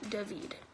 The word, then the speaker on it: David: It's David pronounced with the Hebrew pronunciation, David.